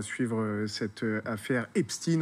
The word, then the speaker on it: Epstein: à suivre cette affaire epst in on a choisi sur et d'essayer de le prononcer à l'américaine effectivement en france on